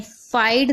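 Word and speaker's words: fight: अगर किसी शब्द के अंत में GH या GHT हो तो GH साइलेंट रहता है, यानी आखिरी में अगर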